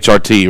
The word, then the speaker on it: HRT: or something yeah hrt you can't you wouldn't call it hurt you're right or you would call it hrt right yeah sure but